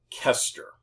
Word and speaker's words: Koester: Hello, and welcome to Fundamentals of Programming I online orientation I'm Paul Koester my name is spelled with an O but the O is silent so it's pronounced Kester.